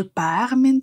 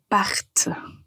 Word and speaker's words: parte: le subjonctif donc au lieu de dire il faut que je par non ce qui n'est pas correct il faut dire il faut que je parte maintenant donc cette toute petite lettre T qu'on prononce fait une grande différence parce que c'est la